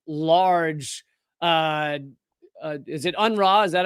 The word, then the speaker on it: UNRWA: But I've tried several times to explain just how large is it UNRWA? Is that how most people pronounce it? Yeah. UNRWA is, and because some people picture an aid